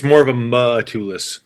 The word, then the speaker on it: Matulis: It's more of a Matulis. Matulis.